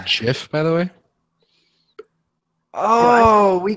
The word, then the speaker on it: GIF: ignorant English person uh is that a soft G or a hard g s I think it's a hard G when you say G Gabe G GIF um G G giraffe so but anyways what